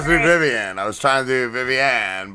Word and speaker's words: Vivianne: it's very common uh in portuguese it's pronounced viviani whereas it sounds and spelt like vivian so that's what i was trying not to be vivian i was trying to do